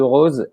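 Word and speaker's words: rôse: en rose alors attention il ya un accent circonflexe sur le haut de rose et parce qu'il faut le prononcer comme ça en rose parce que c'est comme ça qu'on dit à toulouse donc une campagne qui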